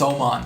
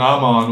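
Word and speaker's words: Mattias Öhman: saying oh mod Oman it's spelled them on I know but it's Swedish it's Oman oh it drives me crazy I'll start saying Oman I guess but I've been saying I'm on when I'm watching on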